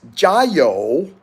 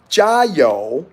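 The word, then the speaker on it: 加油: to your car and the expression in Chinese is Joo so go ahead and repeat it so you know how to say it Joo soon as I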